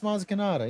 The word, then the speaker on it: Maz Kanata: It's Maz Kanata.